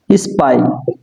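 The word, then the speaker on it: spy: কোন সাউন্ড আসবে না এটা বলতাম ফাই এটা ফাই না হবে কি হবে এখন যদি আমরা এস যুক্ত করি তাহলে কি হবে স্পাই ঠিক আছে এখানে ফাই হবে না এখানে বললাম কি ফোন সেটা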